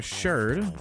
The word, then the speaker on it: sherd: Which, yes, I am pronouncing that right. A lot of people think I'm saying that wrong when I say it. So I am going to clarify. It is called a pottery sherd.